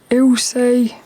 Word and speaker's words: Ilse: I normally record these earlier, but on the YouTube it said the way to pronounce this name, ILSE, is Ilse.